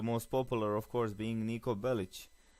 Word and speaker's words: Niko Bellic: popular of course being Niko bellich and yes that's how you pronounce it anyway um niiko bellich